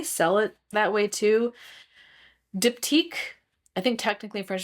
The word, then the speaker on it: Diptyque: Diptyque, I think technically in French it's like Diptyque.